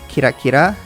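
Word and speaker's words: キラキラ: is kira killer but i guess you're supposed to pronounce it kirakira because kira almost sounds like killer i guess if you're going to say the japanese way kira i don't know but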